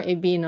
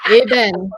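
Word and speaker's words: ébène: whole thing, da mie eben. Eben. Yes, you don't. The e at the end, you don't emphasize it. Da mie ben. Eben. Yeah, no more ebin. No more ebin. Okay, it's eben.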